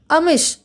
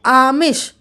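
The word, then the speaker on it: आमिष: कि अनिष्ट अवनति अभिनेता अमिश अमिश नहीं देखिए यहां पर क्या है आमिश ठीक है आमिश कठिनाई किशमिश किशोर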